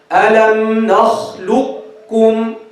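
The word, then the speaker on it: ألم نخلقكم: Drop the first, stress the second. Drop the qaf completely, stress the kaf. Alam nakhluqkum.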